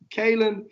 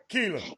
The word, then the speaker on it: Kalen: that is young man Kalen Farouk. Did I say it right? Keelan. Yeah, right.